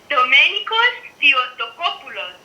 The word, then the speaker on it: Domenikos Theotokopoulos: Comment on prononce son nom? Domenikos Theotokopoulos. Domenikos Theotokopoulos.